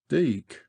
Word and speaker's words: Dyke: to the entrance of the Dyke locally pronounced deck by the way speaking